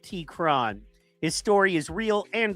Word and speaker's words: T-Qron: Terrace T-Qron is a versatile MC with a deep cadence and wordplay known as T-Qron, pronounced T-Qron.